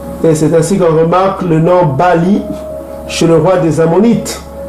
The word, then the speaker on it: Baal: C'est Bali. Ça se prononce Bali.